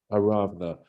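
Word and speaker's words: Aravnah: Yeah, because you don't have the vowels there. Yeah, right. And normally a vav is not given consonantal value unless it's doubled up. So the way they show you when they're not pointing it, would be double the vav.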